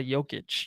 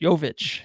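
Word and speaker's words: Jović: 27th pick was nicola yokic yovich yovich yeah hello nikola yovic it's literally spelled like nikola jokic but instead of a k it's a v in his name like that won't confuse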